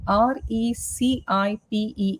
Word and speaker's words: recipe: us in our life okay um can you pronounce this word again r e c i p e s recipe recipe recipe recipe recipe just work